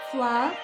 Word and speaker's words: Flove: It's called Flove, like glove. I checked, I asked them how to pronounce it.